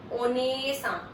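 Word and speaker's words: お姉さん: ओनेसा, ओनेसा, ओनेसा मतलब Elder sister.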